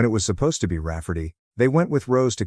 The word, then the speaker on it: Rayfarty: to name my niece Rayfarty, pronounced Rafferty and not at all like Ray Farty.